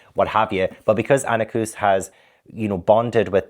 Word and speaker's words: Anequs: now comes out and wants to be with Annacus. And I believe that is the way to pronounce her name because there's there is a